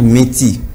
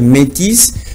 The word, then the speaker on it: métis: s'agit même de l'homme il faut pas dire meti faut toujours dire métis mais la différence c'est